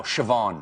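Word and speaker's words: Siobhán: Uh how do you think that's pronounced? This one I know. Shavan.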